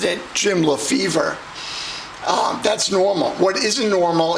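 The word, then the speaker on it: Lefebvre: like someone who's in the 1972 set jim le favora or as they usually pronounce it jim lefevre that's normal what isn't normal is hearing someone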